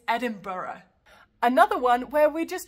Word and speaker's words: Edinburgh: It's not Edinburgh or Edinburgh, it's Edinburgh.